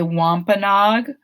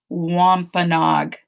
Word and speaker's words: Wampanoag: animals called upright walkers did you say wampanog or something close to it the name of the tribe is the wampanoag that is a hard